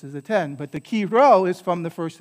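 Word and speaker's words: Chi Rho: comes from right so this key row when you see this right is um it's not a px right although if any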